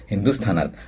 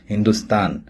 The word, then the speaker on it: हिंदुस्थान: शब्द आहे हिंदुस्थान मंडळी हिंदी चित्रपट गीतांमध्ये हिंदुस्थान या शब्दाचे उच्चारण हिंदुस्तान किंवा हिंदुसता किंवा हिंदुस्ता अशा प्रकारे केलेला आपल्याला आढळत मुळात हिंदुस्थान हे एक विशेष नाम आहे म्हणजेच प्रॉपर नाऊन आहे आणि त्याचं उच्चारण जसं मूळ उच्चारण आहे तसंच करणं अपेक्षित असतं.